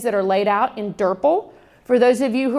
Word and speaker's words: DRPL: too many syllables so we call it durple rhymes with purple all right so durple